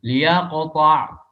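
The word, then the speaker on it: ليقطع: Nah, itu gimana cara baca yang baik, yang benar? Mengkasrahkan lamnya. Liyaqta'.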